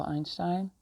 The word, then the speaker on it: Einstein: it's Einstein I understand I don't know how you pronounce it in English but we you know Albert outshining the physician I pronounce it the German way because I speak German so Einstein says that it you